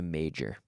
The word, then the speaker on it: major: Now the J is really a vocalized or voiced CH.